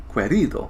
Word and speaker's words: Querido: And actually, this one I can pronounce. Querido, because I know my Spanish.